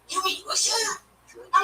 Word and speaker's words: Wilshire: It's Wilshire. And when I'm trying to order pizza, it's like nobody knows. His victims, the other. And I say it's between Sunset and Santa Monica. They're like, you mean Wilshire?